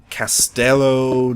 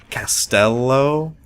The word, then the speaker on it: castello: Or actually, I believe my brother said it was Castello. Like you pronounce the L twice, I think you do in Italian.